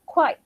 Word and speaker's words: quite: Okay, so here, be careful with the pronunciation of quite. All of you, all of you. Quite, Q-U-I-T-E, quite, yang mana here.